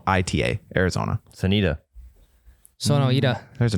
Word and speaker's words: Sonoita: I don't know how to pronounce it. Sonoita. It's Sonoita, Arizona.